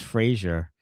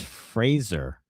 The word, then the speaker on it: Fraser: Sebastian Vaani, PSA 93 wants people to know his name is not pronounced Frazier, as in Joe Frazier. It's Fraser. Oh, like laser. Laser Fraser.